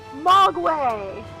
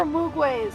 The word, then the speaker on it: Mogwai: Mogwai! Mogwai. They're Mogwai. They're no longer Mugways. Mogways, whatever it is, however it's pronounced.